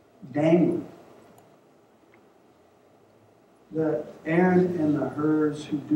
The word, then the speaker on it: Hur: And one last group of people, the Aaron and the Urs, Hers. How do you say that, Wayne? What's that word? Her?